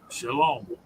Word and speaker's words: shalom: Shalom is pronounced shalom. S l o a m.